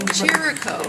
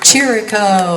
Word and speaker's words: Chirico: Chirico. Chirico. Think of cheerful. Cheer. Chirico.